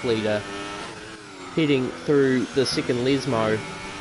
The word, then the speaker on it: Lesmo: So here's Daniel Vale, our championship points leader, heading through the second Lesmo. Oh, I said it right for the first time. I usually slip it out calling it the two Lesbos, but either way, heading into Ascari, let's see how Daniel approaches Ascari.